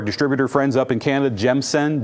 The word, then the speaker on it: Gemsen: So through our distributor friends up in Canada, Gemsen, G-E-M-S-E-M, not Gensen, make sure I pronounce that properly for you guys.